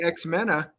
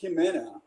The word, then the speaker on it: Ximena: pronounce that right uh i think it's ximena it's like pronounced with a j so so she's pronounced with an s and x pronounced with a like a j sound and uh you know